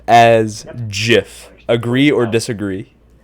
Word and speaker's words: GIF: original the original Creator the original creator said it was pronounced Jif and if you use